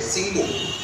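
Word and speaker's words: Tishchenko: इसमें TI silent है, सिंको।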